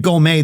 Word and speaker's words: Gomez: Oh, by the way, I pronounce my name Gomez these days.